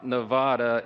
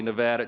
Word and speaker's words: Nevada: So we always say Nevada, and now it's supposed to be Nevada.